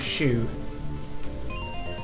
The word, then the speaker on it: Shue: Elizabeth Shue. Is that a person? It's a person, yeah. But it's not spelled like shoe. It's S-H-U-E.